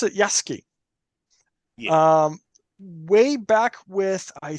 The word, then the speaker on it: Yasuki: and there's like well with a lot of these you know the U is usually not pronounced it's kind of you